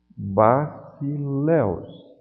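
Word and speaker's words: βασιλεύς: Basileus. O Y tem som de U porque faz parte de um ditongo.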